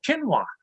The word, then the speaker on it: quinoa: wife always corrects me says proofs it's called quinoa i said if i can't